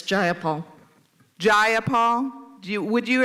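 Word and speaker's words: Jayapal: you agree with Miss ja Paul that there was no takeover is just jaul if you're going to say my name please say it right it's jaia Paul jaia Paul you would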